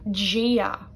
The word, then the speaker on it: Dia: Gia, that word meaning God. D-I-A, I would say Gia, like a J sound at the start.